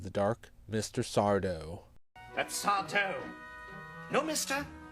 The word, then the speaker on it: Sardo: That's Sardo.